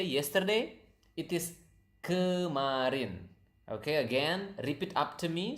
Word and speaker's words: kemarin: It is kemarin. Okay, again, repeat after me so that you can pronounce the word correctly. Kemarin.